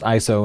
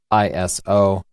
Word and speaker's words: ISO: The ISO, it's pronounced ISO and not ISO. If you're unsure about that, it's because the organization uses the name ISO based on a Greek word.